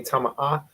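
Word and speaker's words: טמאה: And when you say tama'ah, you have to pronounce the H at the end. So it's tama'ah.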